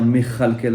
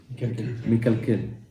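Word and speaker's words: מכלכל: le cas, ça fait mekalkel. Si je prononce pas bien, c'est-à-dire il suffit d'un truc, ça provoque une malédiction. Mechalkel sans le point dans le kaf, ça fait mechalkel avec un chaf.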